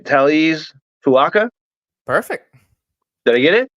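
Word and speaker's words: Taliese Fuaga: shakers here, and I'm going to try and pronounce this, all right? Taliz Fuaka?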